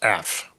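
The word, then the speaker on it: אף: It's just like it's pronounced af.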